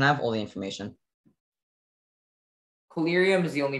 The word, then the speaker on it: collyrium: Collyrium is the only pronunciation.